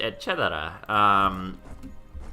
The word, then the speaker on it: eccetera: But So anyways, I was like, oh, it's pronounced eccetera. And it really surprised me, and I was like, well, why is that surprising? It makes sense that it would just be pronounced like it would be normally in this language.